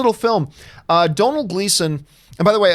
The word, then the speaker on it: Domhnall: say domhnall gleeson and Dom had all Gleason and doom all grease Gleason like I to say all different types ways just think just think tonal but with the D O'Donnell domhnall gleeson there you go